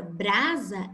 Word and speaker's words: brasa: E na palavra brasa, essa mesma letra, ela recebe o som de Z.